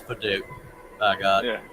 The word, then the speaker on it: padauk: I'm going to keep calling it Padauk.